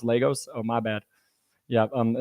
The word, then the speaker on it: Lagos: But it's looking like this guy in it's Lagos, pronounced Lagos.